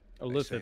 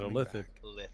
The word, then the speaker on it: illithid: Illithid, that's how you say it, illithid.